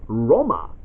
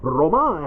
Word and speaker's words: Roma: Brotherhood you're mostly in Rome which they pronounce Roma the main villain is now cesare Borgia he's the guy who was like the commander he's like the dark lord of Rome or Roma as they call it